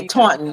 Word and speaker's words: Taunton: Yeah, Taunton.